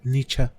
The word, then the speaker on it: Nietzsche: Nietzsche, o bien pronunciado Nietzsche.